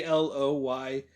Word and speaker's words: Aloysius: you pronounce this name until needville introduced this pronunciation to me so it's a a-l-o-y-s-i-u-s aloysius o'hare yeah to me it's the other